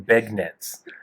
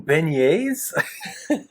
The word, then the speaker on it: beignets: are you talking about you mean beignets learn french you traveled at yeah